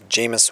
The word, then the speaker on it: Jameis: I think it's Jameis Winston is how you pronounce his name.